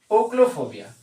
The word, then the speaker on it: ochlophobia: ओक्लोफोबिया। क्या बोलते हैं? ओक्लोफोबिया।